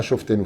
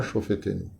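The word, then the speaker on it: שופטינו: Ensuite, on tourne, Ashiva Shofetenu, pas Shoftenu, faites attention quand vous prononcez, on ne dit pas Shoftenu, Ashiva Shofetenu.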